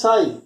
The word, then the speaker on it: psi: it is called as psi. Here the P is silent and it is called as nothing but it is called as wave function.